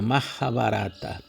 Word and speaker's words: Mahabharata: Então, tem os Vedas, 4 Vedas, tem a Mahabharata, e a pronúncia é exatamente assim, da Grande Índia, Mahabharata.